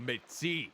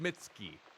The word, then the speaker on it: Mitzi: Or Mitzi. I gotta remember it's not pronounced Mitski. I gotta stop thinking about that artist.